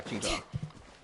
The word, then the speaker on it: Xingqiu: Yeah, Ching Chue. Yeah, I hate how they pronounce him Xingqiu, but I just call him XQ.